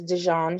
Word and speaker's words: Dejean: and real quickly um dejean i might be saying your name incorrectly and i apologize are you there are you there i'm here hello uh hello you said it right it's dijon okay thank you you're